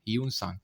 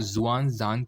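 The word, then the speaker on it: Hiuen Tsang: कि ये second Chinese traveller था इंडिया में स्पेलिंग आई थिंक इसकी एच आई यू ई एन होती है ना यू सांग इसको ध्यान रखना कहीं-कहीं पे आपको जुआंग जांग के नाम से भी मिलेगा जुआंग जांग तो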